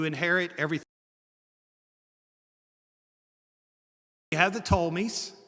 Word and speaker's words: Ptolemies: You have the Ptolemies. The P is silent.